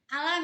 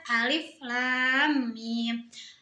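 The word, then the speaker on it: الم: Kan harus dibaca kayak gitu, bukan kayak alam itu, Teh ya. Tapi harus dibaca alif lam mim.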